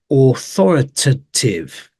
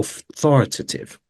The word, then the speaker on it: authoritative: is authoritative authoritative okay this is a tricky one because you got this hear this a in between the two T's but you barely hear it because it's more like awah here authoritative or authoritative okay so watch out for